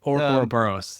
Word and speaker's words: Ouroboros: And is that like, because I have this on my notes, the how do you say that? The Ouroboros? The Ouroboros, yeah.